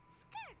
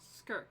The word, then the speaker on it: Skirk: has an idea from must be child's Master skirk right skirk that's how you say her name asked the